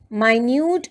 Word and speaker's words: minute: the minutes stick by minute and minute have the same spelling but the pronunciation is different minute with an i sound talks about something small while minute with a small e sound again talks about a small measure of time now let's shift our